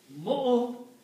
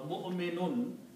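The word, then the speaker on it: مؤمن: We do not pronounce waw. It's just for writing purpose. For helping for Hamza to sit on something. Okay? So you still pronounce mu'min or mu'minun.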